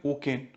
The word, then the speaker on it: OCEN: जिसको हम बोलते हैं ओकेन। OCEN, ओकेन, इसको ओकेन प्रोनाउंस करते हैं।